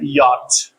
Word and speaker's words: yacht: And an exception for silent CH, CH is silent in yacht.